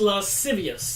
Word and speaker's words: lascivious: Pronounced lascivious. Thank you.